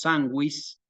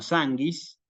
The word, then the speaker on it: sanguis: una que por ahí la u se pronuncia y decimos swiis no sanguis eh Hay una relación